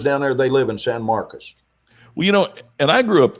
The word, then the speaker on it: San Marcos: So we don't say Marcos. It's Marcus. Marcus, San Marcos, Texas. Yeah. Yes. Yeah. It's when somebody lives down there, they live in San Marcos.